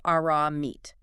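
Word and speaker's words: ארמית: Yes, the text uses the term Aramaic, pronounced Aramite.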